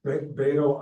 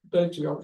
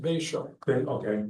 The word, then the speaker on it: Betio: Beto Island, Betio, yep, it's actually pronounced Betio.